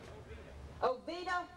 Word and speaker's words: Oviedo: Our next contestant is Philip Steinmetz from, pronounce the name of your town. Oviedo, Florida.